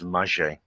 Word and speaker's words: Magé: I did check the pronunciation. It is Magé.